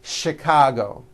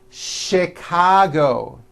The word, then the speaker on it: Chicago: even more more difficult there are a couple of words that are spelled with ch and are also pronounced with the sh sound words like chef and the City of Chicago okay having said that